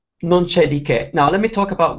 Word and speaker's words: non c'è di che: It's non c'è di che.